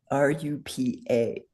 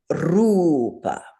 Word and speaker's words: rupa: It is pronounced rupa. So everybody say rupa. Roll that R.